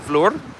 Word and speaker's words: Vlorë: The historic part of Vlorë, I wanted to call it Vlorë because it has an umlaut or 2 dots over the E, but locally they seem to be pronouncing it Vlorë. And who am I to possibly disagree with how they pronounce their own community?